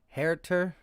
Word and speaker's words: Huerter: MG Nash says, Huerter is pronounced Herter.